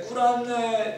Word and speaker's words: 꾸란: 보통 그 사람들 진짜 발음은 꾸란이더라고요. 꾸란. 꾸란이라고 하는데 꾸란의 내용이 결국 이제 그 뭐 이슬람의 성인.